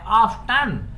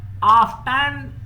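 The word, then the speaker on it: often: सबको पता ना हो इसके दो प्रोनंसिएशन है नंबर वन आफ फन यानी कि टी साइलेंट है टी इसमें बोला भी जा सकता है आफ टन एक ही बात है ऑफ्टन या ऑन ठीक है और गेट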